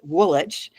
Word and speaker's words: Woolwich: So at Woolwich Arsenal, and it's spelled Woolwich, but in England, when there's a witch, you drop the W, or when there's a wick, you drop the so Chiswick is spelled Chiswick, Woolwich, pronounced Woolwich.